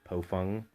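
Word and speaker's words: Baofeng: Today we have the bofung, it's actually pronounced bofung, GT3 Mark II, and we got Bubba over here.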